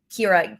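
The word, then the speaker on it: Qira: How do you spell it? Kira.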